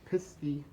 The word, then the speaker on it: Pisgah: This here's talking about the Pisky or Pisgah, however you want to pronounce it. I've always heard Pisky my entire life.